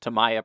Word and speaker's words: Tamiya: primed up I used Tamiya primer or to me a primer depends on how you pronounce it and TS 60 pearl